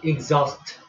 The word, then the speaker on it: exhaust: 자, 예, x가 goose로 발음이 나죠. 따라 해볼까? exhaust.